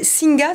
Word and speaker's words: Singa: Alors, deuxième projet, Singa, c'est comme ça qu'on dit ?